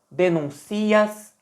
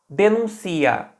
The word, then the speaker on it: denuncia: que o parta denuncia reparem que agora até a pronúncia mudou antes eu tinha falado denúncia com a ênfase no u o acento estava no u agora eu pronunciei denuncia denuncia Olha onde tá a ênfase no i denuncia tá pensem como